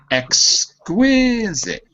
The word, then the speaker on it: exquisite: Exquisite. Exquisite. Exquisite. That's it. So the qui is the stress syllable.